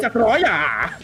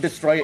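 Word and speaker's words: Destoroyah: Destroya, not Destroyer. It's Destroya. Okay. You gotta have emphasis.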